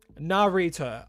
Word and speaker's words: Narita: Narita. Okay, Narita. Kind of like narrator, but narrator. Gotcha.